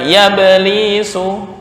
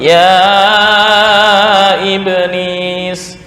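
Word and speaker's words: يا إبليس: sama dengan Ya Iu gak boleh dibaca yablisu bukan yablisu tapi ya iblis Iya termasuk ini misal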